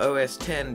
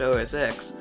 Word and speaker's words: OS X: Often misinterpreted as just X, it is actually meant to be a Roman numeral 10, leading to OS 10 being pronounced OS X, as opposed to how it should be pronounced.